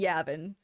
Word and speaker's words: Yavin: I pronounce Yavin 100% right. Cat sounds perfect. German. I'm going between Yavin and Yavin. I'm doing the the British pronunciation. Everybody on on the show who's British uh says uh Yavin.